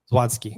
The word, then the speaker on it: Zawadzki: It's Eric, how do we pronounce his last name? Zawadzki.